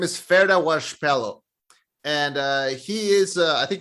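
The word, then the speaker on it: Ferdia Walsh-Peelo: His name is Ferda Washpelo.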